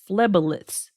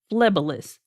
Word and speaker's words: phleboliths: Now, what was new on the report was it said they found small phlebolyths. And it's spelled PHLEBOLITHS, phlebolyths, which is basically small blood clots in the vein that harden over time due to calcification.